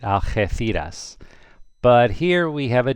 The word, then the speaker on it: Algeciras: The G is like an H, so it would be pronounced Algeciras, Algeciras. Remember the C becomes a TH in Spain if an I follows it, Algeciras.